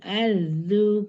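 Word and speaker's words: الأرض: Yauma tubaddalul ardu ghairal ard. Yauma tubaddalul ardu ghairal ard. Ardu ghairal ard. Yauma tubaddalul ardu ghairal ard. Jadi jangan ditahan. Ardu itu lebih dari 2 ketuk.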